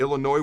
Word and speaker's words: Illinois: week heading into that Illinois where the S is silent game until next time